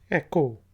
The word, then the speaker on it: echo: इसके बाद वर्ड है ECHO, एको। एको गूंज को कहते हैं, H साइलेंट है, एको।